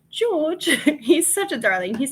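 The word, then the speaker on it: Jawg: Thrifty is it Thrifty George j-a-w-g he's from England and so it's pronounced George he's such a darling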